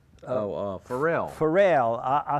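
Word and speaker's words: Pharrell: singer and she's with uh how do you pronounce his name oh uh farel farel I said farell but it's they farell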